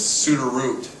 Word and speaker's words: Suduiraut: Same thing with Suduiraut. You just chop the T.